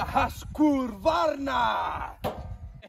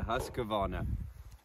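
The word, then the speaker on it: Husqvarna: is ladies and gentlemen the Hur Vara I got the name wrong it's a hus cavana kavana got it all right starting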